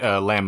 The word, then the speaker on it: Lam: it's it's l m there's no B the B is silent oh well okay all right um so Eliza lamb is why I originally